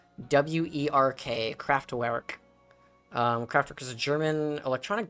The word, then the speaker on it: Kraftwerk: band, Kraftwerk.